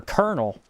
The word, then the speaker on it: colonel: Colonel is not spelled like anything. It's coral and all coral. I can't even say the way it is. Has an L in the middle of it. It'd be colonal.